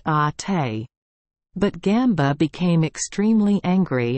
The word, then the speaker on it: Ate: It is pronounced ate.